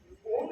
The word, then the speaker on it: ओम: वो थोड़ा सा कम खींचना है, मतलब सिर्फ ओम को खींचना है और म को लंबा खींचना है। वापस ओम एक ऐसा शब्द है जो पॉजिटिविटी काफी देता है।